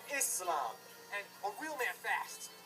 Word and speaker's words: Islam: It's pronounced Islam, not Islam, but Islam.